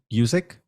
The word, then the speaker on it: Guzik: Is that how you pronounce her name? Guzik?